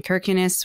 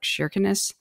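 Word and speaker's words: Kirkenes: to the top in kirkinis which they actually pronounce it as like shinness um and then we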